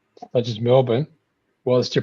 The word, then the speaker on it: Melbourne: the name of Melbourne it is clearly written. it should be pronounced Melbourne and we just go now it's Melbourne and like what about all those letters you're missing out and just go the too many letters man which is it's